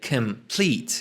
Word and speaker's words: complete: complete در زبان انگلیسی کمپلت خودمون در فارسیه که اولا توی تلفظ حواسم هست شوا داره complete، اینم آیدو نقطه هم که ایه کشیده است complete، و همونطور که گفتیم کمپلت و کامل و کاملا و اینها معادل های خوبیه براش.